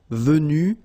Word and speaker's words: venu: you don't pronounce them, so basically you get the pronunciation venu, venu, venu, and then the same thing, venu, you don't pronounce this final e. Venu, you don't pronounce the final s. Venu, you don't pronounce the final s either.